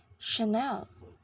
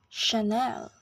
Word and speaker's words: Chanel: Chanel it is pronounced Chanel with this stress in the second syllable again Chanel now for a brand